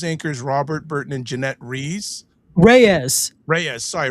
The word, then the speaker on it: Reyes: News anchors Robert Burton and Jeanette Reyes. Reyes. Sorry, Right. Reyes.